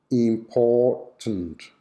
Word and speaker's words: important: one important important good the schwa is on the syllabic m sound important important important example it's